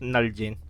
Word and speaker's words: Nalgene: pronounced genie but again i know it's pronounced null gene so this is made